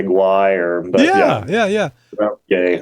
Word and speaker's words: Guay: Guay, and that's French Canadian.